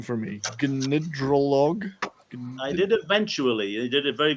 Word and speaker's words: Gnidrolog: Now you're going to have to pronounce the band's name for me. Gnidrolog.